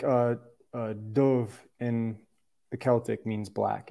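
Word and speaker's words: dubh: yeah like uh uh dove in the Celtic means black it would be spelled d-u-b-h they pronounce that b h like a V I believe something else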